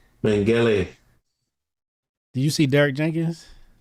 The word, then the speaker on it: Mengele: How do you say his name? Mengele.